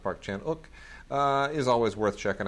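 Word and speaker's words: Park Chan-wook: uh Park Chan spelled Park Chan W but pronounced Park chanuk uh is always worth checking out so uh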